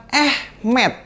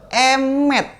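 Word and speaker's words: אמת: Ini bacanya bukan Ehmed, tapi Emet.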